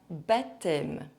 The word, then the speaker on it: baptême: And there are also sometimes random silent consonants inside words. Here are the most common ones. En automne. L'asthme. Longtemps. Condamné. Un baptême.